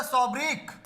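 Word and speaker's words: sobriquet: Shakespeare has द सॉब्रिक, सॉब्रिक आप समझते होंगे, यहां पर टी आपको प्रोनाउंस नहीं करना है।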